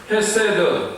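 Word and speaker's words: חסד: 헤세드와 메트라는 말로 나타나고 있는데요 한번 여러분들 히브리어를 발음을 해 보시기 바랍니다 헤세드 헤세 에메트 에메트 헤세드는 무슨 뜻이냐면 사랑 용서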